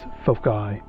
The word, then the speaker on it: foci: And by the way, as far as things goes, since we're dealing with two focal points, the right way to say it is foci, and that's F-O-C-I.